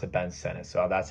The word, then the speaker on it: Sinnett: And I know some people are going to say it's Sinnett. That's how it's, spelled. But he says you pronounce it Ben Sennett.